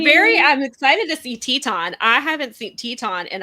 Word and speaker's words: Teton: because now i remember i'm so used to saying teton that when i see it spelled that way that's how i pronounce it i don't pronounce it titan always i pronounce it teton too because that's how it was pronounced a bunch of times around i